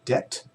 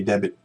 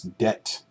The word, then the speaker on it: debt: is credit card credit card second one is debt counselor debt counselor we don't we don't pronounce that be we don't say debit debit counsellor for this word okay it's debt debt counsellor the next word is family budget